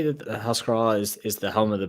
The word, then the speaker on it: Ahascragh: We're at the moment we're bonders, we're finishers, we're blenders, we're bottlers in Ahascragh, and you did pronounce it right, Matt.